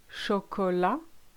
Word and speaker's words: chocolat: First of all, you need to say your vowels correctly. I'll give you two examples. Chocolat, arrivé.